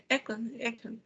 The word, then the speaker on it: Echo: Sería Golfo, Oscar, Nancy, Zulu, Alfa, Lima, Eco, Eco y Zulu. Eco, eco. La pronunciación de la E es eco.